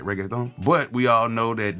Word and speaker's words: reggaeton: we all know that it's reggae thong that's how you say it right reggaeton but we all know